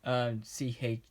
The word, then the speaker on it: Chuy: That's the pig's name, Chewie. Not Chewie. It's spelled Chuy.